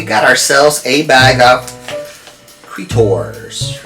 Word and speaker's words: Cretors: So I hope I'm pronouncing it correctly. Cretors or Cretors. It's not creator, it's not creature, Cretor, right?